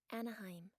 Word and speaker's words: Anaheim: How to pronounce Anaheim.